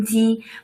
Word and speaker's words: 鸡: So 鸡 is the name of rooster, and it shared a similar pronunciation to 吉祥.